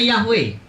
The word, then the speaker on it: Yahweh: Nah, kalau Tuhan menampilkan diri ke Musa, dia namanya Yahweh.